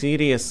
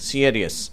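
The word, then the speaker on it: serious: சியரியஸ் அப்படின்னு சொல்லி சொல்றோம் இதனுடைய உச்சரிப்பு சீரியஸ் கிடையாது இது சியரியஸ் என்று உச்சரிக்கப்படுகிறது 570 வது வார்த்தை ஃபைனலி ஃபைனலி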